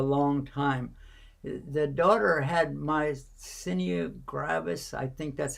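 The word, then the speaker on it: myasthenia gravis: that for a long time the daughter had my senior gravis i think that's how you pronounce it doctor how do you pronounce it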